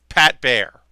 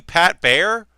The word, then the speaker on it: Baer: A girl that was working there was like, did he call you Pat Baer? Like Pat Baer? Like one syllable?